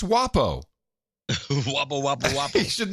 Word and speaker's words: Huawei: It's not Huawei, it's WAPO.